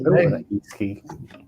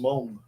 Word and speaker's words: Meng: But it's like Meng. You know Meng, the Chinese company, that's properly pronounced Mong.